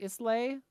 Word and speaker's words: Islay: So it's like Islay, ISLAY I think.